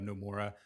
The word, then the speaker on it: Nomura: Right, Nomura, correct, Your yeah.